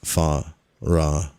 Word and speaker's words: Pharaon: The name of this Aztec sculpture is Pharaon, a name whose syllables are divided as follows: Fa-Ra-On.